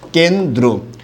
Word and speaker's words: কেন্দ্র: এই শব্দের উচ্চারণটা কিন্তু ঠিক একই রকম হবে, কয়েকার কে, ন হসন্ত, দয় রফলা ওকার, কেন্দ্র।